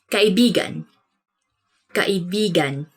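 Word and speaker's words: kaibigan: this word because like you have to say it like this kai began because means friend but when you twist it a bit uh and say it like this that's kind of it's not really a natural way of saying it but it actually means lover so like when you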